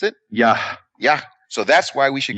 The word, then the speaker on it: Yah: How do you pronounce it? Yah. Yah.